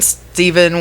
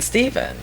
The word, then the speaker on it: Stephen: I keep wanting to call him Stephen because of the way it's spelled.